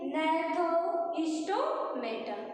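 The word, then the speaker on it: Gnathostomata: एने था सेकंड है स्पेलिंग देखिए जी से जी से स्टार्ट है जी साइलेंट है इसको हम पढ़ेंगे नथो स्टोमेटा अब दोनों में डिफरेंस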